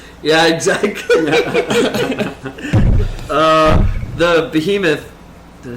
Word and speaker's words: Behemoth: The behemoth.